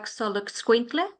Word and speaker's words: Xoloitzcuintle: Daisy, how do you pronounce that Mexican hairless dog? They call them Xolo for short, but it's a Xoloitzcuintle.